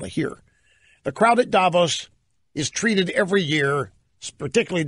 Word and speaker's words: Davos: this in Davos that's one now you're not Davos Davos like milosz Foreman it's not me Lowe's it's